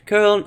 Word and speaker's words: Köln: curl or transform curl, but let's go with the curl meta.